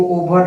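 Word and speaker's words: over: इसको ओवर नहीं पढ़ते, ओवर होता है, क्योंकि मैंने बहुत सारे वीडियो में बताया है कि आर साइलेंट रहता है।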